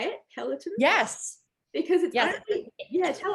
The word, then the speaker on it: peloton: i'm also interested in a foodie and a pelican rider is that how you say it peloton yes because yeah yeah tell us it's a